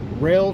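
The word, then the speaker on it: Roehl: So with that being said, I will tell you that the company that I am working for is Rail Transport. That's spelled R-O-E-H-L, Rail Transport.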